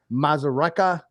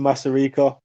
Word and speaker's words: Masarika: uh united kingdom fighter here with me kevin mazzareka um kevin hey tell me a little bit about you obviously i'm i butchered your name i'm sorry can you can